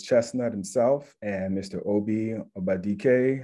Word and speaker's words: Obadike: Obi Obadike. How are you doing, gentlemen? Wow. What's going on, Tony? He hit the enunciate Obadike, man. He announced it just to how it's supposed to be pronounced, man.